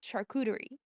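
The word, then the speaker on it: charcuterie: You don't pronounce a T as a T. It's like muted like TD sound. Shuterie.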